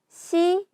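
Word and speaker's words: 姉妹: 만약에 여기에다가 여동생을 나타내는 이 한자를 써서 요게 한꺼번에가 되면 자매라고 해서 시마이라고 읽어주시면 됩니다.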